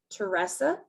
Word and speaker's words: Teresa: speak with is miss teresa domain it's uh pronounced teressa but her name is spelled like teresa and she is the